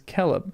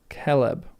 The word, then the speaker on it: celeb: C has always the value of K even before E and I.